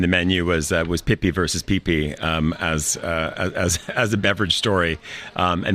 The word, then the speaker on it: Pipi: It's a conflict over Pippi Longstocking, and what we have here is a Yugoslav era beverage called Pipi, that's with a single P and pronounced accordingly.